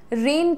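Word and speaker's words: rain: एक तो बच्चे का प्रोनाउंसिएशन रेन की जगह रैन हो जाता है, ये मैंने अभी रिसेंटली जाना है। रैन नहीं होता है, रेन, ए रेन, रेन, रेनिंग cats and dogs, मूसलाधार वर्षा होना।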